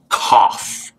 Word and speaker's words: cough: it's it's not cuff it's cough so what does o-u-g-h sound like in this word off yes good let's try another